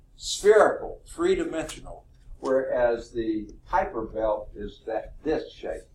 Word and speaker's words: Kuiper: exactly the pronunciation here I would call this the Kuiper belt but I've heard someone call it the weeper belt which sounds rather bizarre to me and I actually